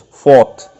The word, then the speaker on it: fault: spelling FA ult fault but when we are reading this point we should pronounce it as fought to rhyme with the last word of the previous line ought so to rhyme with ought here we should utter the word fault as fought okay the second line